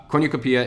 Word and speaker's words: cornucopia: with me so this is a cornuke I mispronounced this every time but corny corny Oh copia cornucopia is also known as the horn of plenty